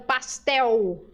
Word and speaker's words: pastel: letra L em U mas em espanhol letra L é sempre letra L tá por exemplo pastel a gente termina esse L final como se fosse um U em espanhol é L normal pastel balde balde é